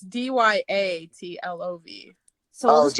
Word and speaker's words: Dyatlov: Yeah, Dyatlov Pass.